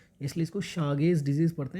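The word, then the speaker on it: Chagas: बट इसका जो actual pronunciation होता है इसको बोला जाता है शागेज डिजीज। अगर मैं हिंदी में लिखूं तो इसको शागेज डिजीज पढ़ा जाता है।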